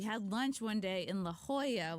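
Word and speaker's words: La Jolla: lunch one day in La Hoya which I finally stopped calling it Lola you know it is spelled like Lola and we were having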